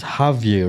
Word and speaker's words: Javier: It's Javier, right? Yes, sir. Or you have any nicknames that easier to pronounce? No, it's like, you could say that, but it's like Javier. It's like if you're laughing.